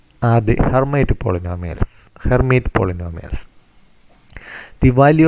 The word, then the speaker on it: Hermite: in terms of the hermite polynomial and the hermite this time is pronounced as hermit of degree n that